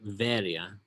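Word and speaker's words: Βέροια: So in modern Greek, we pronounce it Veria. The B becomes V in Greek, so even now in modern Greek, the B is always pronounced V.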